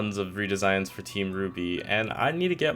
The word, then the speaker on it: RWBY: important to the story the show is Ruby but it's spelled r-w-b-y because it's red white black yellow and you know each of